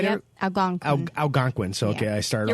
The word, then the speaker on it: Algonquin: Algonquin. Algonquin. So, okay, I started off not pronouncing it right.